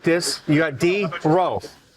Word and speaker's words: Drow: And so when you say drow, it's closer to throw.